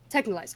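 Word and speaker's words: Texhnolyze: Technolize.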